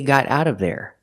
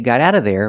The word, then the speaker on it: got out of there: The T in got is a fast D.